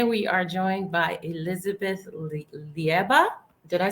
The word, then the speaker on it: Leiba: I like that pronunciation actually. Did I? It's Did Liba.